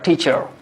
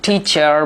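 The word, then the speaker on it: teacher: তাহলে এটাকে হচ্ছে টিচার বলা যাবে না, এটা হবে হচ্ছে টি চা।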